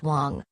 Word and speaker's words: Wang: Wang and his family mr. Wang pronounced Wang was a controversial figure